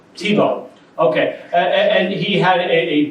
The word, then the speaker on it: Thibault: He had a huge, am I saying it wrong? I think it's Tebow. Tebow.